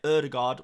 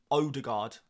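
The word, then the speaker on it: Ødegaard: players like uh erard I'll say erard rather than odard but nobody says oh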